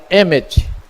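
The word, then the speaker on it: אמת: Se pronuncia Emet, que é o Aleph, que é a primeira letra, o Mem, que é a letra intermediária, e o Taf, que é a última letra.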